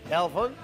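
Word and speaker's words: Helfon: Elfon. Que se escribe con H.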